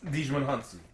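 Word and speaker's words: Djimon Hounsou: Dijman Hansu.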